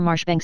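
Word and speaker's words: Marjoribanks: and style being the honorable Kirk Kubri Lonover Marjgery Banks sellers Vikcount Berkeley of Cole Mandelly Castle Warikshshire pronounced Kubrith Lanover Marshbanks sellers Vikcount Barkley of Chumly Castle Warikshire.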